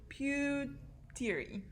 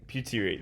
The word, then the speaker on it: Puteri: That's not her name. Pewtery. Pewtery. Puteri. There we go.